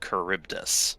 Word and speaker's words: Charybdis: Scylla and Charybdis. What? It's pronounced Scylla and Charybdis.